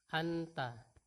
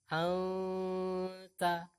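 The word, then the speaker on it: أنتَ: Contoh pada tulisan anta, maka kita membaca anta. Anta itu adalah samarnya, sementara dengungnya itu agak dipanjangkan. Anta.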